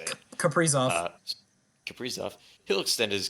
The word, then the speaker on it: Kaprizov: Kaprizov.